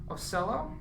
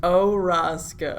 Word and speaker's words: Orosco: I have Gwen Robbins and Ocello. That's not it at all. I said it wrong. Correct me, man. Orosco. Orosco. See, yes.